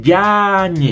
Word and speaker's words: Yáñez: Amigos, Yáñez lleva acento en la A. Si no es Yáñez, es Yáñez. Madre mía.